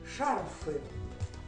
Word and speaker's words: шарфы: на сегодняшней повестки дня существительные шарфы с ударением на первом слоге шансы носят модницы шарфы